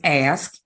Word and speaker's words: ask: and he was like it's not X I'm like so what are you talking about it's ask and I'm like oh